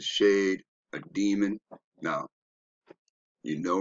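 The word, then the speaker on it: שֵׁד: pronunciation so when we're looking here in the pronunciation it says shade right there so and we go down it's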